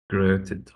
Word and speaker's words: regretted: Gr- Regretted. Gre, gre, gre, Right. gre. So that's the accented syllable of gret, regret, regret. So it's not regret, it's regret, regret.